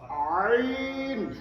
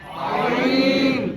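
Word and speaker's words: عين: গলা টিপা আওয়াজে ঠিক ওইখান থেকে এই অক্ষরটা উচ্চারণ হবে আইন আইন আইন আইন আইন আরো গলা একটু আওয়াজে বলেন আইন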